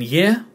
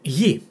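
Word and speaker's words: γη: Again, r as in year, and I as in fit, so ye. No need to worry about the tone here. There's only one vowel, only one syllable, ye, and it's earth.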